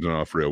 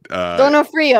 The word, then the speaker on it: D'Onofrio: Donofrio. I thought that I sucked at it. Yeah, that's how we say it, like Americanized, but I don't know